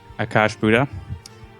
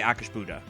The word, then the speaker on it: Akash'bhuta: Akash'bhuta. Yeah, we've heard something it said like that. Akash'bhuta. I say Akash'bhuta personally.